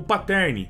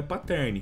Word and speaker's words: pattern: estilo de padrão, o pattern. E antes que vocês comentem aí, cachorro, a pronúncia correta não é pattern. A pronúncia correta no inglês é pattern.